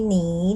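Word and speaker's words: 你: ผัน กัน นะ คะ เนอ อีนี เสียง ที่ 3 ค่ะ นี หนี หนี หนี ตัว นี้ อ่าน ว่า หนี นะ คะ หมาย ถึง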